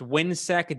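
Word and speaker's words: WHINSEC: hemisphere institute something to that effect and it's pronounced windsec w-h-i-n-s-e-c and they they're the same thing but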